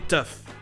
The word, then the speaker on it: tough: Quoi qu'il arrive, si le GH dans OUGH se prononce, il va se prononcer F. Comme par exemple dans ces trois mots très communs en anglais qui se prononcent comme slough. Enough, rough et tough. Enough! Okay. Do you want to play rough? Okay. Who's a tough guy? Who's a tough guy? Les trois se prononcent œuf.